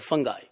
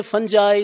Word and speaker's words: fungi: They are nonfilamentous form of the fungus and micology is the study of fungus or fungi. Some people say fungi, some say fungi. Both are correct.